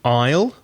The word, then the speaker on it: aisle: You could sit next to the aisle, A-I-S-L-E. Be careful of the pronunciation. The S is silent. The pronunciation is exactly the same as the contraction of I will, aisle.